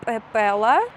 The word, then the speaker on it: Pepela: So this store, it's called Pepela, and I've just pronounced it with the hard Georgian P sound because there is another one, soft P sound.